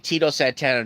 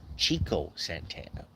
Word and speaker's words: Chico Santana: Someone's saying Tito Santana. No, it's Chico Santana. Okay, it's pronounced Chico.